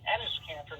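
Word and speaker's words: Enes Kanter: His name is actually Ennis Cantor, not Enos.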